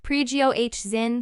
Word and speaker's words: Prigozhin: The evil borne by the country's military leadership must be stopped, Mr. Prigozhin, pronounced Prigozhin said in one of a series of voice recordings posted to the Telegram social network after 9 p.m.